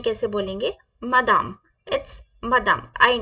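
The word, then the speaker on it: madame: मैडम सो हम मैडम French में कैसे बोलेंगे मादाम इट्स मदम I know it's very simple okay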